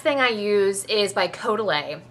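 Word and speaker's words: Caudalie: I use is by coday it's the premier crew leix um I know I sound like a snob but I actually kind of speak French so I'm going to say it correctly uh I love coday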